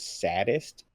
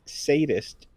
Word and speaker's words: sadist: Did you say the word saddest? Oh yeah, he did. I didn't. Yes. I just now caught that. It's sadist.